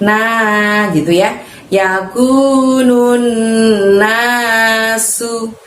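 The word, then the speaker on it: الناس: Yakunun nasu. Su-nya di situ pakai sin kecil tanpa titik 3, maka mengucapkannya dengan ringan, tidak usah meniup angin dari dalam mulut ya.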